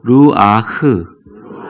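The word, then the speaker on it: רוח: 히브리어로 쓰인 제 절을 한번 따라해 보세요 로 하하 루아흐 두가지 발음으로 하는데 이것은 숨결이 라는 뜻입니다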